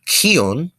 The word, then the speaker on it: kion: Next, we have kion, which the KH is pronounced essentially like a K, but you kind of essentially constrict your diaphragm a little bit as you say it. That way it comes out with that extra H sound, and that means to breathe.